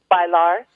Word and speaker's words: bailar: Bailar. Bailar. So you Bailar. say the L's. That's a hard L.